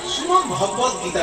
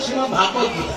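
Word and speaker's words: শ্রীমদ্ভগবদ্গীতা: গীতাটাকে গোটা বললে শ্রীমদ্ ভগবত গীতা বলতে, ভগবত ভাগবত গীতা না। অনেকে ভুল করে উচ্চারণ করে বলে শ্রীমদ্ ভাগবত গীতা, না, শ্রীমদ্ ভগবত গীতা।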